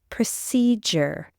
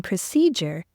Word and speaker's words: procedure: but they're pronounced differently procedure endure yes we hear the J sound in procedure because d is part of the unstressed syllable however in the word